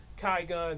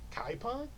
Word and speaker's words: Kai Gun: Kai Gun, they always get his name wrong, like Kaipon, Kai Gun, Chiron, Kai Gun.